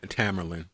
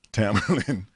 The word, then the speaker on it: Tamerlan: Tamerlan. Tamerlan.